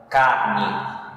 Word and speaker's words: carne: Outro exemplo para vocês entenderem, na palavra carne. Carne não tem acento gráfico, não tem, mas acento tônico tem. Car é mais forte, tá?